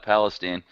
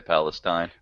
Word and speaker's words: Palestine: Oh yeah, down in Palestine. That's how we pronounce it in Texas. It's true. Sorry to everyone else in the world who would say Palestine.